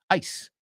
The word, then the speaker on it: ice: Ice, right? Es una I, I, sonido I, pero es una I latina, cortita. Y no es zzz, it's s, como serpiente. So also it rhymes with dice, lice, rice, and many more.